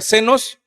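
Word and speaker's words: ξένος: El extranjero viene de una palabra griega significa o que se pronuncia senos, que era la figura de un forastero.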